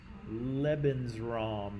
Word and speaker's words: Lebensraum: Lebensraum, right? Living space. Rhymes with leprechaun.